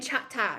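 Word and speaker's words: Chahta: my example my tribe it's chakasha and chata right if we're using our indigenous words but it's chickasaw and choctaw for using the english words that were been labeled on us because i couldn't pronounce our words um so if we're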